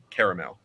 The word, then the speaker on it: caramel: all garbled together and so having that extra yeah like syllable in between helps to distinguish it uh as a word it sounds because otherwise